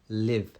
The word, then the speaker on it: live: And live, of course, you're doing the V as well, but live. It's shorter. Li. And it's not E. Li. Sounds like an S sound.